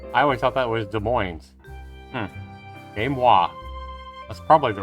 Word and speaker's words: Des Moines: evening game wah i always thought that was des moines game wah that's probably the right way to